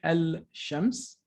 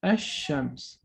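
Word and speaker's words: الشمس: melt the lamb so we don't say al-shams the sun is too hot for this lamb right so it will melt the lamb and we will pronounce it as ashams so the sheen of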